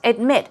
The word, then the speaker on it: admit: move on to admit admit stress goes right there on the second syllable now you're declaring something